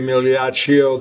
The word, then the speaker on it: Migliaccio: Highly questionable one, RJ Migliaccio, the G is silent America.